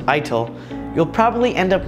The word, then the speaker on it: ITIL: you google the definition of ITIL pronounced ITIL you'll probably end up